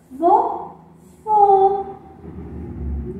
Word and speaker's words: vovô: É um vovô. Nossa, vamos escrever aqui a palavrinha vovô? Vovô. Tem um sonzinho fechado. Olha que interessante. Duas vezes a sílaba vó.